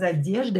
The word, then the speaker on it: одежда: We will replace a with u to make it accusative, because одежда is feminine. Одежда, ударение на е, одежду, покупать одежду.